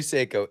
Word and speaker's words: Seiko: It's Seyo. It's It's definitely Seiko.